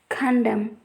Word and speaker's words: condemn: If we see the condition, at the end of a word, N is not pronounced when it comes after a M. Let us see the examples column, condemn, autumn, solemn, etc.